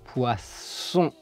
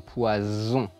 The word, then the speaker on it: poisson: plutôt arsenique ou sianure poisson et non poison et oui la prononciation a son importance mais comment savoir le quel prononcer je vous explique on prononce quand on a un S au début du mot serpent un S avant ou après une consonne Espagne ou un double s profession quand on a un